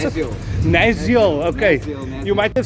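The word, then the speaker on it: Nasiol: How do you pronounce it? Naziel.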